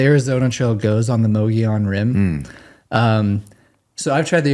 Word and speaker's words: Mogollon: Ben says Mogollon. Okay. Mongolia? No. It's I think it's Mogollon. The Mogollon Rim. Yeah. Right. Yeah. The Arizona Trail goes on the Mogollon Rim.